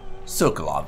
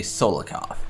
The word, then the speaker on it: Sokolov: Sokolov, that's it, right? I don't know why I always want to say Solokov, but anyways.